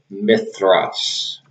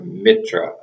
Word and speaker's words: Mithra: it would have said mithras the roman mithras the roman deity but it's a mithra or mitra i guess is the proper pronunciation even that wouldn't work